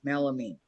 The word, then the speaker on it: melamine: Laura said pronounced Mel mean. She spelled it out. MELL space A space MEAN. Melamine.